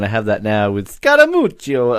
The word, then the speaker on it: Scaramucci: Can you help me pronounce that? Because Scaramucci.